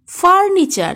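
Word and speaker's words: furniture: শব্দে টি থাকলে টি এর পরে যদি ইউ থাকে তাহলে টি এর উচ্চারণ চয়ের মতো হয়। এক্সাম্পল দেখো লেকচার, সেঞ্চুরি, ফার্নিচার ইত্যাদি।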